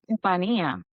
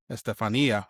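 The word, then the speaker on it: Estefanía: And I'm sorry, I butchered your name. It's Estefania, right? Estefania. Estefania.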